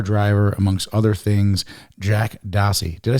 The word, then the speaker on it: Dossey: and race car driver amongst other things Jack dossey did I say it right yep I know